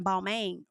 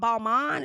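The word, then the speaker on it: Balmain: ball first of all I've been saying ball man wrong okay ball man it's called Balman is that how you say it I think that's how Brit uh not Brit but Kelly pronounced it so she invited um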